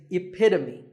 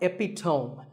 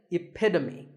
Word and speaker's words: epitome: of something and the perfect pronunciation of that is epitome it's not epitone once again epitome of course once you